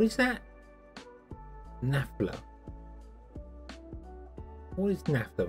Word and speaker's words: naphtha: form of fuel retrading naphtha okay google tells me nafta nafta nafta right okay okay so